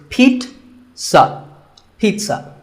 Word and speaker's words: pizza: it's not a pizza there's no z sound in this word it's pit sa pizza another food word that's